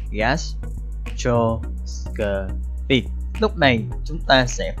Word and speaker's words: gastroscopy: đó là từ gastroscopy, có bốn âm tiết gastroscopy.